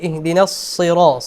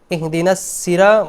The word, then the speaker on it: اهدنا الصراط: ইহদিনাস সিরা, সদ উচ্চারণ হবে মূলত, সদ মোটা করতে হবে। ইহদিনাস সিরা, ইহদিনাস সিরা বলা যাবে না।